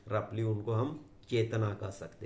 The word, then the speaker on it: Qi: जैसा की, चाइनीज में उसको की कहते हैं, और स्पेलिंग है CHI, QI है उसका, और उसको ची कहते हैं।